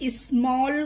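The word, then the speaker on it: small: ठीक है, चलिए पहला वर्ड स्मॉल। इसे स्मॉल क्यों पढ़ेंगे? क्योंकि रूल क्या था हमारा, ए के बाद जब डबल एल आता है तो उसमें ए का उच्चारण ओ होता है।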